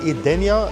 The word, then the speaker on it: Edenya: On doit encore réfléchir à la bonne prononciation, mais c’est Edenya.